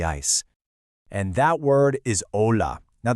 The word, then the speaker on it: hola: And that word is ola. Now, the key thing to remember with the pronunciation here is that the H is completely silent. So, you just say hola.